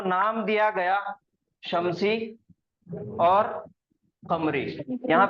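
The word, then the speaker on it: قمر: उर्दू में हम काफ को भी खा प्रोनाउंस करते, खा का तलफ्फुज निकालते। ये कमर के मायने है चांद। अगर मैं उर्दू के हिसाब से काफ की जगह अगर मैं बोलूंगा खमर, तो खमर के मायने है शराब।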